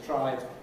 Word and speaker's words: trying: of course it's trying lots of people taking the IPA test fell down on the word trying because they forgot it has two syllables trying and they thought it was some kind of prime which it isn't Okay, does that cover those worries?